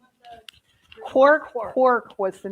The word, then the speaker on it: Quark: Quark was the name of it. It's actually a U.S. company, but its headquarters is in Toronto. How do you spell that? Q-U-A-R-K, Yeah. like quack, but quark.